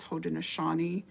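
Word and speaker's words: Haudenosaunee: born Mohawk of the hoden Nani Confederation you might know it as the iraa Confederation but it the way we want it said is hoden aani okay iaqua is actually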